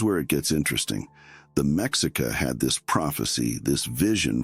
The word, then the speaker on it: Mexica: They were the Mexica people, pronounced Mexica, and that's where the word Mexico actually comes from.